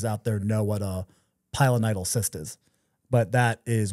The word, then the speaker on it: pilonidal: It's called a pilonidal cyst.